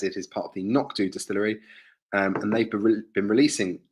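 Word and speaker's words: Knockdhu: Nokdu is pronounced Nokdu, and it means small black hill.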